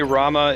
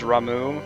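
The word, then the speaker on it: Ramuh: Apparently Rama is Ramu because it's Japanese and it's okay to be wrong.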